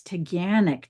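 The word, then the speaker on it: Taughannock: And and by the way, it's Tanic. Don't panic. No. when whenever whenever you're trying to figure out how to actually pronounce something, you ask the visitor uh center lady and and and I was like, "Well, it really sounds much better to Ganic." But she said, "No, Ganic. Don't panic."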